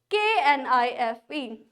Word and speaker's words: knife: KNIFE. Don't say knife. K is silent here.